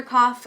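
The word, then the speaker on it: Qof: so you can look up the hebrew letter cough it's spelled q o f if you want to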